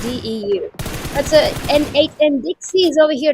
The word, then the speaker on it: DEU: Sounds like Dew. Alright, so we got DEU. And that's how we pronounce it, DEU.